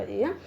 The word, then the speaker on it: heir: में जैसे बोलते हैं, दिस इज कॉल्ड एयर। तो प्रोनाउंसिएशन इज सेम, दोनों का प्रोनाउंसिएशन जो सेम है, बट मीनिंग इज डिफरेंट।